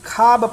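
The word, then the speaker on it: خواب: कि खाब पढ़ा जाता, खाब, खे अलिफ बे पढ़ा जाता, वाव मादूला हो जाता, वाव साइलेंट हो जाता है।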